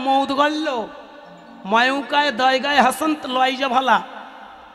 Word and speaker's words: মৌদগল্য: বেশ, হ্যাঁ বাবা, মধুগুল্য নয়, উচ্চারণটা হবে মৌদগল্য।